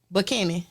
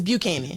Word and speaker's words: Buchanan: stop you right there how you say it bucken okay but if it's the last name it's Buchanan bu okay yeah I just